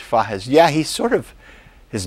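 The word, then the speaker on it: Fages: They pronounce it in Spanish, Fajes.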